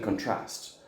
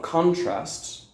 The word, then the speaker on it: contrast: Okay, so contrast is the noun. So there was a lot of contrast with the contrasting ideas, for example. All right, contrast in the second syllable. All right, if the strength is in the second syllable, then it's a verb.